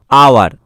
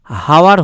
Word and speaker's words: hour: দেখো এখানে উচ্চারণটা হচ্ছে আওয়ার, এখানে উচ্চারণটা হাওয়ার হচ্ছে না। ঠিক আছে, হ দিয়ে কিন্তু হচ্ছে না, হাওয়ার, হাওয়ার এরকম কিন্তু উচ্চারণ হচ্ছে না, আওয়ার।